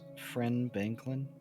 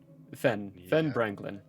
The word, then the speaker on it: Fen Branklin: Did you just say his name is Friend Banklin? Fen Branklin. Fen Oh, okay. Never mind. Franklin. Thought it was like Ben. Not Ben Frank.